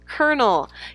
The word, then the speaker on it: colonel: even though it's spelled like colonel it's still pronounced colonel you could that is a rank in the